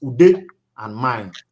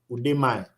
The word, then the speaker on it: Udemy: If you're pronouncing it like a Nigerian will pronounce, it's Ude and Mine. Udemy. That's Udemy.